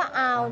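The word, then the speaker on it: hour: หรอ วะ เนี่ย คำ ว่า เอา ที่ แปล ว่า ชั่วโมง ถึง แม้ ว่า จะ มี ตัว อักษร H นำ หน้า แต่ เวลา ออก เสียง เรา ไม่ ได้ ออก เสียง ตัว H จึง ต้อง ใช้ an นำ หน้า ไม่ ใช่ a เข้า ใจ ไห คะ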